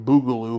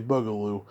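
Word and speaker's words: boogaloo: 2 electric bugaloo and I finally said it right for once I'm always saying Baloo but it's actually bugaloo I guess you can go either way and I'm having her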